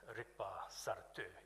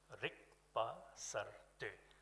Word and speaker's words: Rikpa Sartu: And the Bhutanese equivalent of innovation is Rikpa Sartu. It has 4 syllables, Rikpa Sartu.